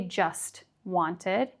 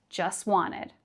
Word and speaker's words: just wanted: So we don't pronounce the T. We don't say just wanted, but just wanted.